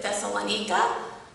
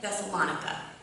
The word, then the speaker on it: Thessalonica: I know some people pronounce it Thessalonica, but in Greek it would be Thessaloniki, and just for the purpose of clarification, I will pronounce it in the American way, Thessalonica.